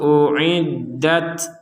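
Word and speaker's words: أُعِدَّتْ: Wal hijaratu uiddat lil kafirin. Di sini ada ta yang sukun ya. Kalau ta ini kita baca menggunakan ada nafas yang keluar.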